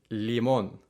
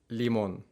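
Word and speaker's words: limón: or don't quite notice the pretty big difference in the way that for example teas and l's are pronounced in spanish versus english take tomato and tomate lemon and limon lemon limon these are relatively low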